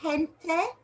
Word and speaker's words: gente: e and i okay g is just the same it makes a soft stripe in front of e and i so it sounds like the english h so it'll be gente and gigante now in